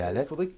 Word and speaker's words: Halette: Ben, C'est Alette? Oui, Oui. Alette. Il faudrait le dire sur un ton un peu plus léger, un peu plus éolien. C'est un nom qui est comme un souffle, en fait.